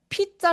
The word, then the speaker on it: pizza: 아 소리가 아니라 피자. 얘가 슈아라는 건데 힘을 완전히 뺀 소리예요.에에 요런 느낌.